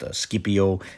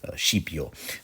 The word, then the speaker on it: Scipio: classical Latin pronunciation but I hope you forgive me if in this video I run with a slightly more italianate pronunciation sheepo but whatever the case